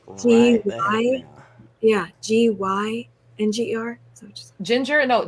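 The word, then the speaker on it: Jinjer: They are, if you want to hear incredible vocals just for like voice study, it's Ginger, but spelled with J.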